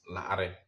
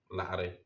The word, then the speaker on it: la'are: The fourth one is the most difficult alphabet you come across, and many beginners struggle to pronounce it. Example word is la'are, la'are.